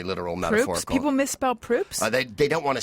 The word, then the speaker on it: Proops: People misspell Proops? They don't want to say it. If they see Is it because it's close to poop? Yeah, they'll say props, and I'll be like, okay, whatever.